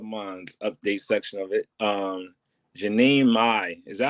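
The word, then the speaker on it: Jeannie Mai: Jeanie Mai. Is that how you say her name? Jeanie Mai.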